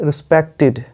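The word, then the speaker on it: respected: आप लिखेंगे यहाँ पे रिस्पेक्टेड। ये टेड नहीं बोला जाता, इसका उच्चारण होगा लास्ट में टिड, रिस्पेक्टेड, रिस्पेक्टेड, ठीक है।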